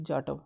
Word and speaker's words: जाटव: सर इट इज जाटव, sorry भाई, है ना, अगर आपका नाम प्रोनाउंसिएशन में हमसे गलती हो गई हो, जाटव जी, ठीक है।